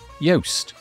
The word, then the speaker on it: Yoast: of the guest today yoast same pronunciation different spelling we talk about how